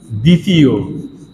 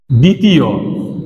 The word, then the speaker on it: দ্বিতীয়: যেমন একটা লিখে দিই, দ্বিতীয়, দ্বিতীয়। এই যে বটা, দ্বিতীয় বটা কিন্তু উচ্চারণ হচ্ছে না, এই বটা হলো অন্তস্থ ব।